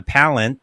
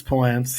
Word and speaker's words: Palance: ran into Jack um uh palent Palance why can't I ever pronounce his name right Palance it's Palance I don't know either I know Palance Palance